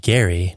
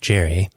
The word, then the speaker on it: Gerry: Governor Elbridge Gerry, yes, it's pronounced Gary, not Jerry, signed off on a